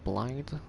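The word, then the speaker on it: Blaidd: with Celabus or or Blade, which looks like Blade, the wolf guy. It's pronounced like Blight.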